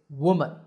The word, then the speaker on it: woman: The first is woman. Woo, mun, woman. And the second is we, men, women.